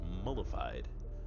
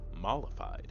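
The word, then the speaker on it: mollified: You know, I think I've been mispronunciating that word my entire life. I always called it mullified. Mllified.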